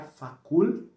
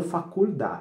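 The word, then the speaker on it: facultad: Então, vai ficar facul. Tá, e não faculdá, é facul. Tá.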